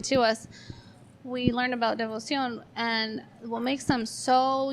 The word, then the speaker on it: Devoción: It's called devoción. So, like Devoción. devotion in Spanish.